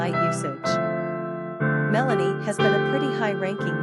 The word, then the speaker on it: Melanie: Quick facts on Melanie. Gender, girl. Origin, American. Number of syllables, 2. Ranking popularity, 454. Pronunciation, MEHL-nee. Simple meaning, black, dark. Characteristics of Melanie.